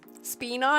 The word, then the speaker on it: Spina: Spina is how we pronounce it.